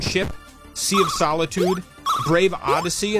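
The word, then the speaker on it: Odyssea: Abandoned Ship, Sea of Solitude, Brave Odyssey, and that's spelled O-D-Y-S-S-E-A, like Odyssey, and then Make Sail as well.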